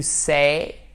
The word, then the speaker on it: say: To say, said, said. Attention, c'est say avec la diphtongue, say, comme le A de oser, said, said.